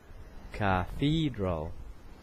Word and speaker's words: cathedral: church um that's correct cathedral so the stress is in the second syllable cathedral okay and number nine